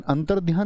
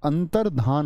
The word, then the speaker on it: अंतर्धान: बहुत सारे दोस्त क्या बोलेंगे इसको? अंतर ध्यान, ऐसी ध्वनि निकाल लेते हैं, लेकिन अंतर ध्यान नहीं होता, अंतर्धान होता है।